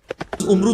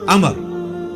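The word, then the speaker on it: عمرو: उमरू तो कोई लफ नहीं ल है अमर लिखा होता है उमरू लेकिन उसका मतलब वाओ जो है व साइलेंट होता है और वा का मतलब यह है कि आपने इसे पेश की बजाय जबर से पढ़ना है उमर की बजाय पढ़ना है अमर तो हजरत अमर बिन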